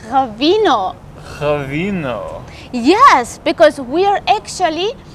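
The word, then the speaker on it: ღვინო: georgians call it right actually you should work on pronunciation of because it's ravino yes because we are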